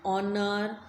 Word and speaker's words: honor: An R, an honor. H is silent in these words, so we use n.